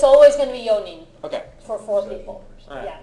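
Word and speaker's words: よん: so the yo it's always going to be yon okay for four people yeah Yon it's never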